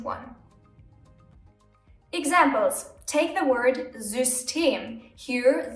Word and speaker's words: System: Take the word System. Here, the Y is placed in the middle of the word and is being pronounced as Ü.